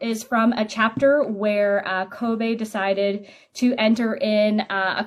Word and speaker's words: Kobe: Is it pronounced Kobe or Kobe? Kobe. Just Kobe.